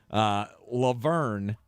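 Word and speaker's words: La Verne: This was from San Bernardino County in the town of Laverne, or Laverne. I guess I'm putting the wrong emphasis on the wrong syllable. Laverne is where this took place.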